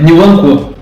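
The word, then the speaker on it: Nwankwo: E só fechando, acho que esse garoto do Crotone, esqueci o nome dele agora, porque é um nome bem fácil de pronunciar. Né? Niwankwo.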